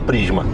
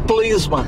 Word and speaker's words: Prisma: Pede pro chinês falar Prisma. Eu acho que ele vai falar Plisma.